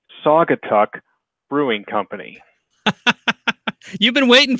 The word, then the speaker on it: Saugatuck: wrong it's Saugatuck no it's a weird case where it's pronounced pretty much how it looks it's actually pronounced like